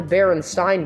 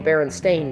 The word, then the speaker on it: Berenstain: Also, something that I distinctly remember was it's not the Berenstain Bears; it's the Berenstain Bears. It was never spelled with an E in Berenstain. It was spelled with an A, making it Berenstain.